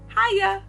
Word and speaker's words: Haiya: Like, the way you pronounce her name also is Haiya.